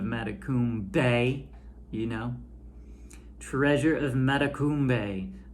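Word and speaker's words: Matecumbe: is treasure of matakumbe which we learned the pronunciation of mata kum bay you know treasure of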